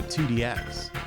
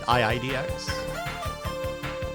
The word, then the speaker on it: IIDX: They were like, DDR is fun at first, but you really got to get into 2DX. And they would laugh at you if you pronounced it IIDX.